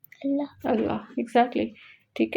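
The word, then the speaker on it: الله: अलफ तो साइलेंट है। बिल्कुल साइलेंट है। लाम भी साइलेंट है। नहीं इटसेल्फ ये वर्ड कौन सा है? अल्लाह।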